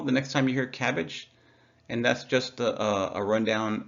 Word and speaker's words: CABG: cabg often called cabbage it's pronounced cabbage like the vegetable no one likes uh but cabg stands for coronary artery bypass graft and surgeons actually pronounce as cabbage they'll say cabbage uh